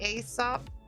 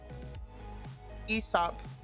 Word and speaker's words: Aesop: Aesop. Ease up. But isn't it Aesop's fable? I guess I've just been saying it wrong my whole life.